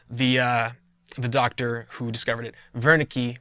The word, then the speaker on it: Wernicke: lobe and it's called Wernicke's area named after the doctor who discovered it Virna key would probably be a better pronunciation but this area allows